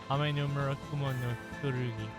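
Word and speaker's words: 天叢雲剣: They're all inspired by Japan's imperial regalia, which I had the lovely Ryu read the pronunciations for. Reflector, Yata no Kagami. Rosary, Yasakani no Magatama. Glaive, Ame no Murakumo no Furugi.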